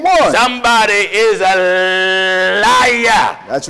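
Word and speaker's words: عيسى: a brother named esau in arabic esau is pronounced isa isa in arabic the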